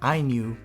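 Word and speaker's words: INIU: Next up are two power banks from iNew, and yes, it is pronounced iNew, a brand I learned about only last year, and they are quickly becoming a charging favorite of mine.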